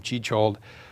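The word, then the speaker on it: Jan Tschichold: among whom is the German young chick hold or some people pronounce his name chichold who in 1928 wrote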